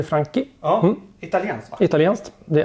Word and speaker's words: Franchi: Ja, uttalar man det så? Franchi. CH blir Franchi.